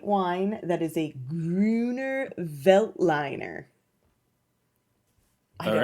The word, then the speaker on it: Veltliner: That's why I think it's pronounced Veltliner. You have to say it Actually, like did that. you Google it, or did you just want me to say it like that? Veltliner.